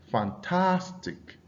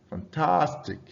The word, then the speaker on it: fantastic: For words concluding with IC, the stress is placed on the syllable directly before this suffix. All right. So you have something like fantastic, fantastic.